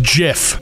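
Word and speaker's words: GIF: It's actually pronounced Jif.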